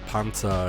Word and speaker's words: Panzer: katakana that google actually translates to panzer or panza as the proper german pronunciation goes in other words the